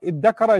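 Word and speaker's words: ادَّكَرَ: The ta and the dhal from pronunciation, ta and dha are from the same part of the tongue. Your tongue moves to the front of the mouth when you pronounce them. And what happens is there's a fusion. It's called idgham in Arabic. So tadakara becomes iddakara or iddakara.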